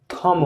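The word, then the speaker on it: thumb: हमने आपको बताया कि एम के बाद बी साइलेंट रहता है, यानी कि बी साइलेंट यानी कि चुप रहता है। जैसे आप यहाँ पे देख सकते हैं, ये लिखा है थंब, लेकिन करेक्ट इसका प्रोनाउंसिएशन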